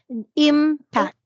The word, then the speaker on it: impact: So before you proceed, don't forget that this one is the impact. We don't Impact. say impact. Okay. The im is the syllable.